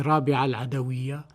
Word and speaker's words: Râbi'ah al-'Adawiyyah: Mais il faut dire Rabia parce que elle a été le quatrième enfant de son père. Et Rabia veut dire la quatrième, justement. Donc c'est Rabia al-Adawiya qui est la bonne prononciation de son prénom.